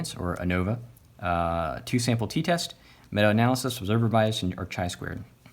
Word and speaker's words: ANOVA: How many syllables are in this? ANOVA. Three. So three syllables, so you got to at least have three means to compare, okay?